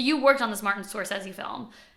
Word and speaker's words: Scorsese: Martin Scorsese. Yeah. Did I do it right? Yeah. Oh, let's fucking go. I feel like, honestly, like, I feel like the Italians would say, like, Scorsese, you know?